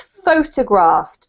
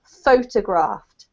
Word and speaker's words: photographed: to remember in English because the emphasis keeps changing depending on the the form but in this case it's photographed photographed photographed okay yeah um because it's the verb you have to put the emphasis on the first part so I photographed something